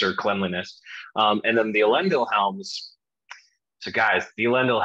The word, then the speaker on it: Elendil: You know, we can talk about pronunciation of that. I'm going to go with Elendil because, you know, my friend who's really deep into Sindarin says it's put that syllable there.